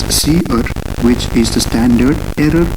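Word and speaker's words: cerr: outputs then we have c e r r pronounced as c r which is the standard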